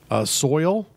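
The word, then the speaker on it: Soyal: solstice and one is soil s o Y al like royal with an S and that was a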